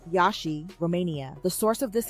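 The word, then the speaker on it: Iași: The destination, Banca, Transennylvania in Yashi, that's pronounced Yashi, Romania.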